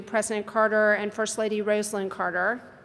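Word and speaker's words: Rosalynn: Carter and first lady rosn Carter I'll say her name is rosin everyone mispronounces it and I think now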